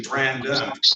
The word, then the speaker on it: Brandon: It's actually BARANDON, correct, Mr.? It's actually Brandon, right? Yes.